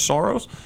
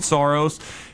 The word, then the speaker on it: Soros: By the way, she also, in the same night, went after Chelsea Clinton and George Soros. Is that how you pronounce his name? Soros?